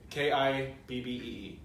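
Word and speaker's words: kibbeh: Kibbee. Kidney. It's the best way phonetically.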